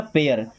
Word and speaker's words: pair: PAIR, इसको पैर नहीं पढ़ते हैं, क्या पैर नहीं पढ़ना है। देखिएगा पी से बनेगा प, AIR, तो ए की मात्रा और अर, क्या बन जाएगा पेयर।